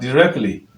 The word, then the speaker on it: directly: find is directly but it is better to pronounce it as directly directly directly let's look at another word for